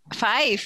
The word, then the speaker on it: Fife: training first with his parents and at their healing and teaching center in rural Fife, yeah, Scotland. Did I say it right? Fife.